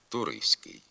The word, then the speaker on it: туристський: вимовляються наводимо групи приголосних у яких буква Т пишеться але не вимовляється звук т зникає при вимові в групах нтск нтст СК пишемо студентський студентство туристський а вимовляти треба студентський студентство туристський також в групах стц